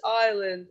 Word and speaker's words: island: just swam to this island Island teacher also this here is siland is s here is silent my name is